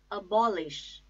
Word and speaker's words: abolish: second syllable burn abandon abolish abolish bomb ich I repeat a bomb ich the stress is on second syllable ball abolish abolish so like this